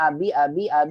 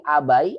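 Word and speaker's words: أبي: Aina sayyaratu abi, dibacanya abi terus. Enggak jadi abai, abui, ya gitu, abi.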